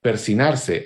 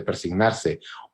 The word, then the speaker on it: persignarse: Persinarse, aún muchas personas bien educadas dicen persinarse en vez de persignarse, o incluso señala un nosotros, es decir, el propio Batres Jáuregui como representante de estos grupos cultos.